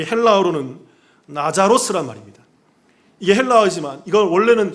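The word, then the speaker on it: Λάζαρος: 나사로, 이 헬라어로는 나자로스란 말입니다. 이게 헬라어지만 이건 원래는 히브리어예요. 히브리어 발음으로 얘기하면 이건 엘 아자르라는 말이에요. 엘 아자르라는 말이 히브리어인데 신약의 언어인 헬라어로 말하면 나자로스, 나자로라고 얘기한다고요.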